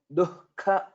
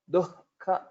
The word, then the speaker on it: दुःख: So the pronunciation of this word dukkha, dukkha. So you can imagine that there is a hakara here, though it is not the case, but for pronunciation purpose we can remember in that way.